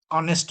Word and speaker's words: honest: She is honest. यो यचबाट सुरु भएको छ तर उच्चारण चाहिँ अनेस्ट हुन्छ, किन भन्दाखेरि यच साइलेन्ट हुन्छ।